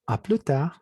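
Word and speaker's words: à plus tard: Tenemos a plus tard. Ya hemos dicho que la S no se pronuncia.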